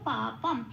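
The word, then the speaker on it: পাপম্: এবার দেখি সংস্কৃততে কিভাবে উচ্চারণ করব। পাপংয়ে পা যেমন আছে তেমন, পঙে অনুস্বর আছে, শব্দের শেষে অনুস্বর থাকলে 5 নম্বরে তালিকাভুক্ত করে দেওয়া আছে ময় হসন্ত দিয়ে প্রতিস্থাপিত হয়ে যায়, তাহলে হলো পাপম।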